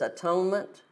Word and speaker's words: atonement: the inside cover it it stretches the words out like this at one meant one being the if you take the old way of pronouncing it like an only on atone such atonement but being at one at one with God all right one we